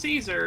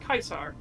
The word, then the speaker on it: Caesar: it's not actually pronounced Caesar it's pronounced kaisar because eventually through the uh through history it would uh be tweaked and modified but it's why the the leader of Germany was called the Kaiser it's literally the same